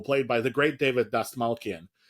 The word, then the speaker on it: Dastmalchian: by the great David Dastmalchian. Dastmalchian? I could be wrong. I think it's Dastmalchian, because I have said it wrong and been corrected.